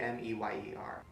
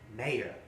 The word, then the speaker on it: Mayer: i remember it looking at the name meier you would think it would be m-e-y-e-r nope um no no it is not a you know what m-a-y-e-r is john mayer that's how you say it mayor not meyer that's one of those